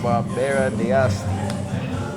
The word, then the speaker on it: Barbera d'Asti: How do you pronounce it? Oh, Barbera. Barbera. Hey. That is Barbera d'Asti.